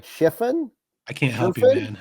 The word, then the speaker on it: Schriffen: John am I going to pronounce this right shien I can't help you man I have no idea s c h r i FF n John Sherin is uh is the new voice of the